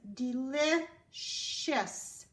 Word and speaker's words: delicious: The first word is delicious. Do you hear the last syllable? Shus. C-I-O-U-S. Delicious.